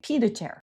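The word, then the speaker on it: pied-à-terre: I know I don't pronounce that in the fancy French way. I say it in the American way, pied à terre.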